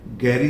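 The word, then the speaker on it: garage: ऐसे गाड़ी रखने की जो जगह है, गैरेज या रिपेयरिंग वाली जगह को भी बोलते हैं गैरेज एंड गैराज, दोनों हो सकते हैं।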